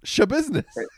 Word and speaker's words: Schabusiness: so I really uh I'm pretty sure that's how you pronounce it s-c-h-a and then business show business it's just it's legitimately